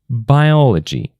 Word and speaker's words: biology: For example, biology, the first syllable.